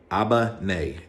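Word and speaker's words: 危ない: like where where you at sorry if I'm mispronouncing that uh Albany Abba nay is like dangerous now I'll remember that was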